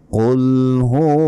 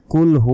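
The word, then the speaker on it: قُلْ: আয়াতে আমরা কি বলি কুলহু আল্লাহু আহাদ এভাবে বললে সম্পূর্ণ ভুল হবে কারণ আমরা অনেকেই বাংলা উচ্চারণ দেখে দেখে মুখস্ত করছি এটা করা যাবে না বলতে হবে কুল কুল মোটা করে কুলহু আল্লাহু ল তে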